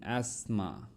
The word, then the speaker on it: asthma: don't pronounce this don't pronounce t and this word okay listen asthma listen listen